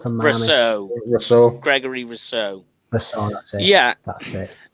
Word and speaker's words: Rousseau: Is that how you pronounce it from Miami? Rousseau. Gregory Rousseau. Rousseau, that's it.